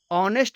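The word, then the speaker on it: honest: है नेक्स्ट example है ऑनेस्ट मैन इसमें मैन के पहले ऑनेस्ट एडजेक्टिव लगा हुआ है और इसमें एच साइलेंट है इसलिए इसका उच्चारण वोल साउंड की तरह हो रहा है इसलिए ऑनेस्ट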